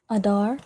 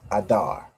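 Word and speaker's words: אדר: Adar. Pronounced the exact same way. Adar, right? The a and the da and the rajin together to make dar.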